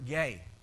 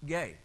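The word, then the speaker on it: γῆ: Earth is the word gay and it's spelled GE but it's pronounced gay and what it means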